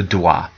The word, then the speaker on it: dois: Je dois. Make a note of this somewhere. Je dois. The S is silent, O and an I like a wa sound.